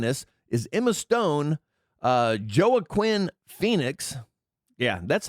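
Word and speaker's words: Joaquin Phoenix: Uh Joah Quinn Phoenix. Yeah, that's how it's pronounced actually. Joah Quinn. It's not WAQ. What? Walk. What? What the hell is his name? Waqen Phoenix.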